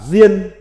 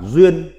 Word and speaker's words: diên: Âm Hán Việt đọc là diên, còn có âm đọc khác là duyên.